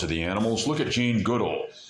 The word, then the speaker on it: Goodall: the animals, look at Jane Goodall. And some pronounce it probably more correctly, Jane Goodall.